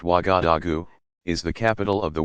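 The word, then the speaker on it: Ouagadougou: waka Doo goo you Waga dugu pronounced Waga da goo is the capital of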